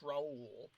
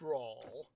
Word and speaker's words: Raul: deliberately says you know my name is spelled like Paul but with an R but is not pronounced Raul it's just pronounced raw that they have a